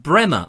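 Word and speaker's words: Breamore: in a place called Bremer Bremer or Bream or as it's spelt be Rea Mor is in Hampshire but I believe it's supposed to be pronounced Bremer I double checked on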